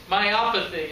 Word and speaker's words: myopathy: myopathy any muscular disease myopathy is actually how it's pronounced a myopathy is a